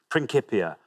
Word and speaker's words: Principia: You're going to say, I pronounce it Principia, that's church Latin, Principia Mathematica. I mean, proper Latin scholars will be cursing that. Principia Mathematica is how they'd prefer that to be.